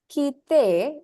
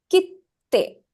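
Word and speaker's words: 切手: So the te will be emphasized a little bit. So instead of saying kite, you will say kitte. Okay, so in English it is K-I-T-T-E, right?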